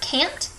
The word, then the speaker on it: can't: great okay make sure with the word can't you pronounce that T at the end to make sure you can know that it's can not yes exactly oh okay